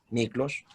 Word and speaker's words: Miklós: Entonces Miklós es más fácil, se lee como o sea, se pronuncia como se lee, Miklós, ¿no?